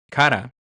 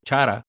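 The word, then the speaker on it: χαρά: El gozo, o la palabra gozo, tal como la conocemos, viene del griego kara o chara, como algunos también lo pronuncian, y su traducción literal es gozo, deleite o regocijo.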